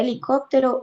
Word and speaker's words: helicóptero: en la 5 puse la palabra helicóptero es esdrújula es de estructura ósea lleva acento en la antepenúltima sí no y él